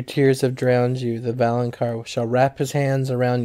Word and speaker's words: Valonqar: So it's this word, and I don't know how to pronounce it. I've never known. I think it's like Valonqar or something. It's Valonqar.